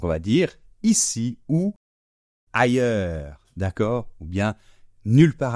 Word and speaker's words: ailleurs: comme tout à l'heure le S final ne se prononce pas d'accord et ce fameux ye